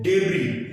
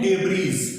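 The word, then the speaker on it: debris: Example देख लेते हैं, डेब्री। यहां पर इसको कई लोग पढ़ते हैं डेब्रीज, वो गलत प्रोनाउंसिएशन है, इसकी सही प्रोनाउंसिएशन क्या है? डेब्री।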